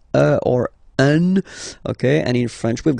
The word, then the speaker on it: un: without any doubt, but you've got to pronounce it like un. So it's what we call the nasal, so it goes in your nose, okay, un. So if you listen to me, you don't hear any N, okay, so it's just